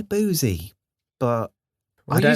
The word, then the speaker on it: Boosey: Because it could be Boosie or Boozy. I don't know. Well, it's spelled the same as the music publishing house Boozy and Hawks. Okay. And that's pronounced Boozy.